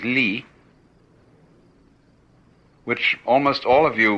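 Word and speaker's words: 理: So in contrast with ji, which is one point of view toward the world, is ri. Ri is a Chinese character, pronounced by the Chinese li, which almost all of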